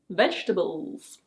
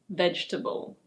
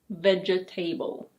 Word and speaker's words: vegetable: If you want to be healthy, it's important to eat fruit and vegetables. Yes, this word is pronounced "veg-teh-bel". It's not "veg-eh-tay-bel". It's: vegetable.